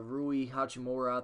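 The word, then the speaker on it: Rui Hachimura: I'm saying you got Rui how jhamora I think it's how you say his name you know you got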